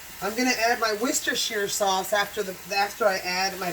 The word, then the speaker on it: Worcestershire: Worcestershire, yeah.